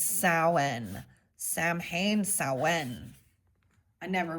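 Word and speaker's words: Samhain: It looks like it says Sam Hayne. I never can. I always pronounced it wrong, but thanks for the pronunci. It's Sen.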